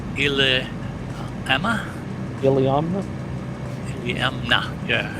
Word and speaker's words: Iliamna: So our destination, AK, pronounced Iliamna? Iliamna? Iliamna, yeah, Iliamna.